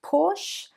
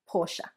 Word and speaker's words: Porsche: So, not Porsche, but 2 syllables, Porsche.